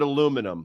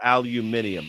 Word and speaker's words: aluminium: a garage no but at least it's the same amount of syllables like they just add in for aluminium like that's not and